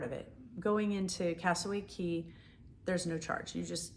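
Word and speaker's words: Cay: We went to the Key, Castaway Key. And it looks like K, but it's actually Key because that's how they say it.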